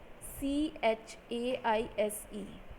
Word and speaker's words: chaise: Third, in French, CH always has the sound SH. For example, CHAISE, it is pronounced as chaise.